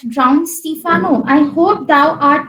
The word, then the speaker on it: Stephano: Pronounce it as Stefano. That sounds better.